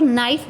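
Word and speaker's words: knight: कन्हाई लिखते हैं लेकिन जब हम उसका प्रनंसीएशन करते हैं उच्चारण करते हैं तो उसमें के साइलेंट होता है और नाईट बोला जाता है तो हिंदी ऐसी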